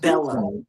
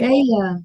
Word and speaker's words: Bella: name is pronounced Bella, Wait, not Bella, right? Bella. Double L like quesadilla. And that's all the double up like quesadilla.